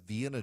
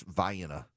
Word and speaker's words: Vienna: Now, here in Georgia, we have Vienna, Georgia, home of the Vienna sausage, except it's Vienna.